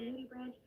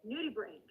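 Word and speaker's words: nudibranch: earlier the nudy branch it's actually not pronounced like that I have a friend who is GRE biologist and I was able to ask her how do I say this name it is nudie brain I will however experiment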